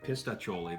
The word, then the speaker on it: Pistachioli: but not least is pistachioli I really hope I'm pronouncing that right pistachioli that's exactly what they said this one is just